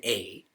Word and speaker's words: Krishna: And for you to note, there's no I in Krishna. It is Krshna.